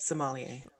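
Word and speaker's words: sommelier: wants to be um like a sommier so how you say it somalia yeah yeah and so he's like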